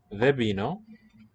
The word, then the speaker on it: δεν πίνω: Vebino. So again, the N and the P, voiceless, they fuse into a B.